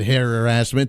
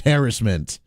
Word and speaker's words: harassment: thesaurus or the dictionary this is how you pronounce it it's not hair or ass meant it's harassment it's moved to Kansas